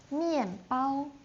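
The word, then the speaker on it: 面包: So, mianbao. Remember just now when we uh teaching the tones, the first one is bao. Bao is like a piled shape. So, mianbao means like um the flour, the wheat flour.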